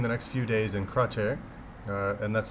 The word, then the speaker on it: Kratie: actually uh spending the next few days in crer uh and that's spelled k r a TI i e but